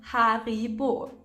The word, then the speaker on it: Haribo: we all love these the name comes from the founder Hans regel who lived in B which resulted in the name Haribo Haribo so with the